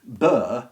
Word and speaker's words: burgh: And that's why you'll get Burr spelt in all sorts of ways. B-U-R-G-H, B-O-R-O-U-G-H, B-R-O-U-G-H, and B-U-R-Y, Bury.